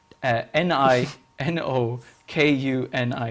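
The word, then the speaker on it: Ni no Kuni: like a lot of uh how do you spell that n-i-n-o k-u-n-i nino kuni you know world's right off the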